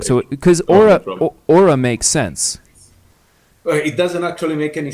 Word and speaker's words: Aura: you as well um you go by ura am i pronouncing that right it's actually aura you know i realized that in this country everybody will pronounce it ura so i guess i get to get used to that no well i don't